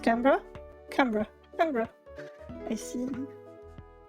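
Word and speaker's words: Canberra: Only it's called It's pronounced CRA. Camra.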